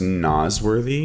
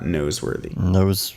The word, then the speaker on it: Nosworthy: Also, I've heard it's pronounced Nosworthy, not Noseworthy.